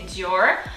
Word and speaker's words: Dior: english i believe that in english you say dior and here the massive difference is the way that you pronounce the ars french has very kind of girl arse they come from deep down so they come from your throat so you kind of